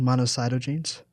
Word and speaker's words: monocytogenes: this name monocycle genes um yeah I think monocytogenes there you go and uh and so not